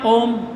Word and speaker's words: ओम: स्वर का चिन्ह है अब ओम जो है इसमें ओ जो है इसके पीछे लगा हुआ त्र मात्रिक स्वर इसके पीछे लगा हुआ त्र मात्रिक यानी तीन मात्राओं का समय लगना चाहिए किसके उच्चारण में ओ